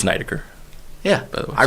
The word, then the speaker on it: Neidecker: It's Neidecker.